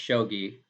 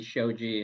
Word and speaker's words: shogi: i mean if it's if it's spelled like this then it's shogi because if it was if it had a j it'd be shoji in japanese but it's um i'm